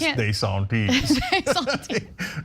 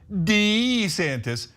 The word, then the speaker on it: DeSantis: No, I can't get past DeSantis.